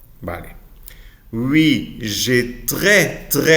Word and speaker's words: très: Oui, j'ai très, no tres. Très, sin la S.